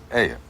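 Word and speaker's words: ayuh: How do you spell it? A-Y-U-H. Aya.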